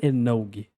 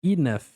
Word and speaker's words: enough: Enfim, partindo pr as pronúncias, olha só, isso daqui não é enog. Enog aqui é enough. Enough. Começa com o izinho, ó. Enough. Enough. E termina com som de F. F de faca.